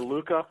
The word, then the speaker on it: Luca: Lucia or Luca? Luca is better. Lucia is kind of exotic. I like it, but Luca is better. It's my near name, Luca.